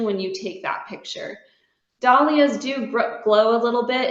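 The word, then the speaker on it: dahlia: studied so long um I pronounce dollas be because of the word Gala I say I'm going to go to the gala I don't say I'm going to the Gaya or the gala but in Dalia Society there are people that pronounce it Dalia and daia in the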